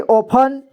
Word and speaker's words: often: तो यहाँ पे T साइलेंट है, ठीक है। तो इसे हम पढ़ेंगे often। ध्यान दीजिए, इसे often पढ़ेंगे, often नहीं बल्कि often पढ़ेंगे, ठीक है।